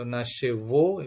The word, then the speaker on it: нашего: Atau variannya yang lain nasego, ya, ego, ini, atau nashevo pembacanya, ya.